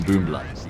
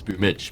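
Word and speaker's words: Boombl4: But you don't see anyone going around calling him Boombla because it's well known it's Boomich.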